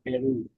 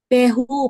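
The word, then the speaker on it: François Perroux: Francois Peru. So ito naman, pero ito, you don't pronounce it Peru. Iba yung pronunciation niya because this is French, I think. So Pehu, parang ganon.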